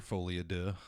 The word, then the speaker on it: Folie à Deux: yeah I guess we should talk about Joker folad do oh I thought I really like the pronunciation there I looked it up another episode